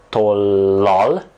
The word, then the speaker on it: tollal: Szeretek tollal. Remember, this is a double letter. You have to say lal instead of lol.